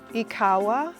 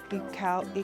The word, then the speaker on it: ikawa: Which ikawah, which is how you say in Kinyarwanda. Ikawah ikawah.